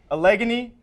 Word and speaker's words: Allegheny: gators at denison maxwell break it down so allegheny that's how you properly pronounce it it's from pennsylvania they got their